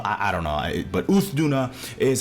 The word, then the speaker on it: Uth Duna: of the Scarlet Forest uuna U Duna which is way better than anything I said yesterday I I said all kinds of crap yesterday I said youth Duna I said youth Duna